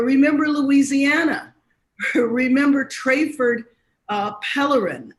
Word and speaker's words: Pellerin: louisiana remember trayford uh pellerin i believe is the pronunciation of his last name he was shot 11